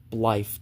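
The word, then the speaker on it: Blaidd: You don't say it Blythe, it's Blythe. With an F. You say it like a Blythe. Like B-L-I-F-E. Not this. That's how you say it.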